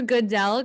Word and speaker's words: Goodell: as it starts you'll see roger roger roger goodell is that how you say it yes you'll see roger goodell come out and he's always booed and i'm